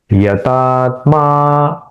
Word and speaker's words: यतात्मा: यतात्मा, मां का दीर्घ उच्चारण।